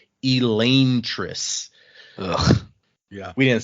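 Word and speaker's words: Elantris: so technically once again while we always say this one wrong we call it elantas the way this language works the technical pronunciation would be Elis yeah we didn't say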